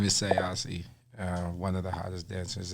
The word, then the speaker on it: Ausee: So you said say Ausee, so to pronounce it's Aussie like Australian or like? Well, my name is Ausee.